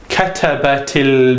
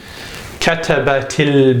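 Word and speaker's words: كَتَبَتِ: So, according to the rules of writing and indeed pronunciation, the sukoon changes to a kasra. So you write it katabatil bintu maqalatan. Katabatil bintu maqalatan.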